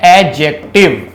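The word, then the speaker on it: adjective: English में बोलते हैं एडजेक्टिव दी साइलेंट होता है तो क्या बोलते हैं इसको एडजेक्टिव एडजेक्टिव नहीं बोलना एडजेक्टिव बोलना है इसको इसकी प्रनंसीएशन कैसी होती है एडजेक्टिव दी नहीं बोलते इसके अंदर ठीक है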